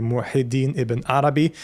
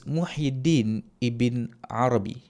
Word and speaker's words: Muhyiddin ibn Arabi: Okay, so one we have here, which is Muhyiddin, and I am inclined towards the pronunciation of this name without the al.